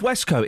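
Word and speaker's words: waistcoat: I'm not arguing with the spelling of Westcoat. It's spelled waste coat.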